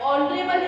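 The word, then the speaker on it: honourable: एच से start हो रहा है, कॉन्सोनेंट है, बट ऑनरेबल है इसका प्रोनाउंसिएशन, तो यहाँ पे वॉवल का है, तो एन ऑनरेबल पर्सन आ जाएगा.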